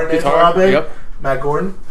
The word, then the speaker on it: Gorton: You say your own name wrong. Because it's so uncomfortable to say it right. Like Gorton.